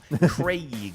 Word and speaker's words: Craig: Did I say Craig funny? Craig? No, Craig. you said it right. Should it rhyme with Greg?